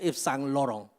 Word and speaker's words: Yves Saint Laurent: Itu bacanya Yves Saint Laurent.